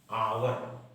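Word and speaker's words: hour: देखिए इसको हम पढ़ शुरू तो हो रहा है ह से लेकिन पढ़ रहे हैं अवर यानी जो इसका उच्चारण हो रहा है वॉवेल साउंड ए रहा है ए नहीं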